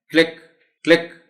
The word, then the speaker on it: click: the word incorrectly and they might say click, this will be wrong. इसको बोलना है click.